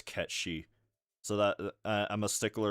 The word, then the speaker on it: Cait Sith: like that because uh Cait Sith is based off an actual mythological like a figure from specifically Irish and or Scandinavian myth and the way they pronounce over there is Cat Sìth.